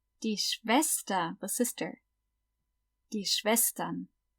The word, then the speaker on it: Schwestern: Die Schwestern. Remember, SCH is always sh, and the W is always v, like a V. Die Schwestern.